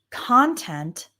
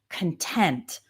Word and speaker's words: content: The same word can be a noun or a verb or an adjective and the difference is in the word stress.